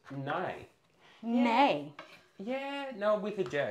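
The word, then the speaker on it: nei: Nay? Nay. N-E-I. How should I say it and sound? N-E-I. Yeah, how do I pronounce it? Nay. Nay. Okay, nay like the horses. Nay. Nay. In Norwegian.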